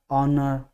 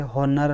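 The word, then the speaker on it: honour: इसको पढ़ेंगे ना तो ऑनेस्ट पढ़ेंगे, एंच जो है वो इनमें साइलेंट रहेगा, सब में जितने भी हैं यहाँ तक इनमें एंच साइलेंट रहेगा। एयर, एयरस, आर, ऑनर, इस तरह से हॉनर हम नहीं पढ़ेंगे, हावर नहीं पढ़ेंगे, इनमें हम एन का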